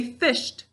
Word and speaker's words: fished: Let's say the word fished. Fished. Just 1 syllable, so we know that